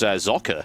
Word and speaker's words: Socke: powered by the community here this is the sake Invitational the sake craft Invitational I'd go with